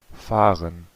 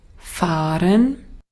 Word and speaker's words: fahren: fahren, fahren, Nótese acá, es un audio austriaco y notarán que la R que está utilizando es la R suave. Vea, es como decir ren, dice fahren, fahren.